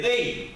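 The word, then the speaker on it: δεῖ: Para empezar, quiero decirle que la palabra necesario viene de un griego que es el 1163, se escribe dei, así como se oye, ¿verdad?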